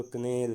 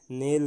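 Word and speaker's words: knell: उसे कहते हैं दोस्तों कनेल। क्या कहते हैं, नेल कहते हैं दोस्तों, के यहाँ साइलेंट हो जाएगा, नेल मीन्स क्या होगा, समाधि वाली झंकार होगा, तो इसे क्या कहेंगे, नेल कहेंगे।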